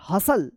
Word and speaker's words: hustle: अपोसल, T silent रहेगा। BUSTLE क्या पढ़ेंगे? बसल। बसल, BUSTLE बसल। HUSTLE हसल।